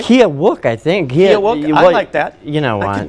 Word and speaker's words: Keokuk: in Iowa right but I think it's Kilik August 12th all right I'm going to be opening for Michael Winslow a police academy oh that's awesome yeah yeah and if I pronounced it wrong it's Keokuk actually wow but that's okay